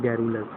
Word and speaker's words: garrulous: अगला जो वर्ड है वो है गैरुलस। गैरुलस की स्पेलिंग है ये है GARRULOUS, गैरुलस।